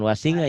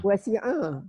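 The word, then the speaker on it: وسع: Wasi'a. Iya, A-nya kan ngalamin, dia alhamdulillah ngalamin. Mungkin orang-orang mana tuh nggak tahu. Wasinga dia bacanya. Wasi'a ya. Jangan ngas tapi as.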